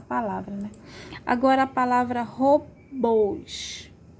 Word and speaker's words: robôs: Agora, a palavra robôs. A sílaba mais forte é bôs, né? E como é aberto, não é aberto, é fechado, né? Robôs. Então, o som é fechado. É o acento circunflexo, tá?